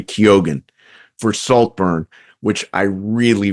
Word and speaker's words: Keoghan: Andrew Scott, All of Us Strangers, and Barry, and again, this is another pronunciation thing, I think it's Barry Keoghan for Saltburn, which I really, really loved.